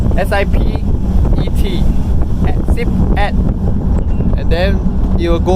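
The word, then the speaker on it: สิบเอ็ด: Yes, so if you want to say 11, it'll be Sip at. S-I-P-E-T. Sip at.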